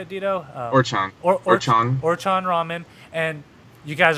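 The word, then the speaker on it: Orochon: Orchan.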